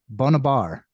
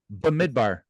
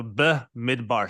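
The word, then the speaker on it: במדבר: refine yep so going in I maybe I mispronounced this but bonab bar and that is the meaning idar so say it correctly for us B midbar B is in so B midbar so b midbar b midbar cool so midar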